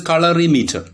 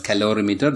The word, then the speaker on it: colorimeter: This is colorimeter. Keep in mind that never pronounce the instrument name as calorimeter. It's a different instrument used to measure specific heat in physics.